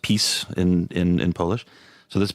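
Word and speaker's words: PiS: is unfortunately for them named this P is pronounced peace in in Polish so this piece so pieces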